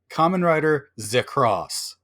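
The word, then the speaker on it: Kamen Rider ZX: X with no space between them the official pronunciation of this common writers name is Kamen Rider Z cross oh I love the Pamplemousse flavor of it's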